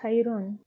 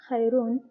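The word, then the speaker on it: خيرٌ: The next word is khayrun. Now the same word, which is khayr, but it is ended now by Tenween al-Dam.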